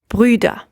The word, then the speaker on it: Brüder: The U becomes an Ü. Brüder. This is another umlaut, and as such it might be a little complicated to pronounce at first. It's helpful if you start off with an E sound and then try to round your lips and slowly move towards that Ü sound.